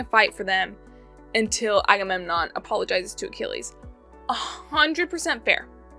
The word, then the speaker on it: Agamemnon: I think it's pronounced Agamenon. Like I'm gaming on your butt. Agamemnon.